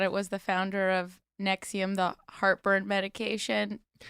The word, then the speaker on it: NXIVM: Nexium. So, not the heartburn medication.